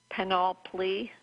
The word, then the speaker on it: panoply: mining large databases have reported a panoply, P-A-N-O-P-L-Y, panoply.